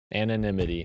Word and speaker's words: anonymity: Anonymity.